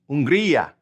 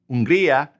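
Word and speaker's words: Hungría: Unria. Unria. And they are unaro. Remember that H is silent.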